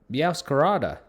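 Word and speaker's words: Meowscarada: to run that uh we got the the mow scarda meow Kara there you go that's how you say it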